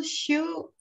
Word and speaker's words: shew: sitteth upon many waters i pronounce the the the shoe the same way but i i've learned from others that even though it's it's written that way it can be pronounced show so so this is